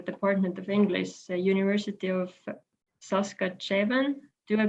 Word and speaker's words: Saskatchewan: professor in the department of English University of saskatchewan do I pronounce this correctly. Ann Martin (she/her): It saskatchewan.